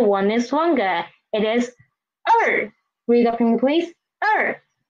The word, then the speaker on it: 一: It's just one horizontal and its pronunciation is E. E, it means one in Chinese.